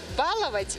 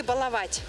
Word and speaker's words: баловать: Ударение нужно поставить правильно, как будет баловать или баловать? Баловать. Баловать. Баловать. Я думаю, баловать. И так говорят. Раньше говорили баловать, а сейчас говорят баловать.